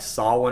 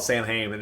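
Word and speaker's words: Samhain: it's actually pronounced like saw one or something like that but we're Americans we pronounce it how it's spelled out so for years I recall it Sam Heyman and the Irish were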